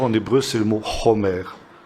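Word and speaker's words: חומר: Et vous avez un mot proche du mot chamor, en hébreu, c'est le mot chomer. Ça s'écrit exactement de la même manière, ça se prononce simplement un tout petit peu différemment. Chomer au lieu de chamor.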